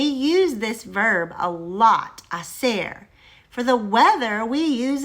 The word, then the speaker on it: hacer: We need to talk about the verb hacer. Hacer. Just for fun, let's spell it.